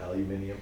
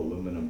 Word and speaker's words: aluminium: Okay, which, it sounds all like prim and proper when you say it, aluminium, but I don't know, I just can't get past that. That doesn't sound right to my ears somehow.